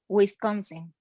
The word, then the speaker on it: Wisconsin: on a sec okay anybody know what to do with this word wisconsin with currency nice so it's this one stress um middle syllable yeah so um if